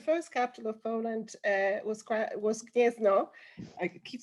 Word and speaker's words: Gniezno: Oh, sorry, I should pronounce that. Wow, of course. Will I be able? Okay, so the first one is Gniezno, the second one is Krakow, and the third one is Warsaw.